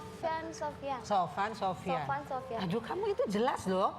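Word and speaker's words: Sophan Sophiaan: Namanya SOPH bacanya F ya, bukan P. Please. kita orang Bandung, jadi nggak bisa ngomong F. Sofyan. Sofan Sofian.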